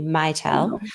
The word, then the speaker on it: Mitel: Not to confuse with Mattel, the toy company. Mitel is the pronunciation.